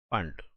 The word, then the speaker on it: Pfund: फंड series P silent है।